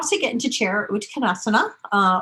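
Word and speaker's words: Utkatasana: How to get into chair, Uttanasana, or for those who don't pronounce the A at the end, Uttanasana, right?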